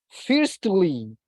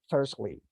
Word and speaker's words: firstly: and this one firstly we don't pronounce the letter T we don't say fiercely firstly so we say firstly this one as well